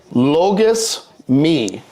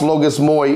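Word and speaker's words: λογισμοί: thoughts are as the holy fathers write in Greek logus mi not pronounced logous moy even though that's how it looks logous mi this is the intrusive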